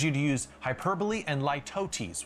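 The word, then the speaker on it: litotes: I'd also encourage you to use hyperbole and lootesis, which I always want to read as ltootes, but that's not how you say it.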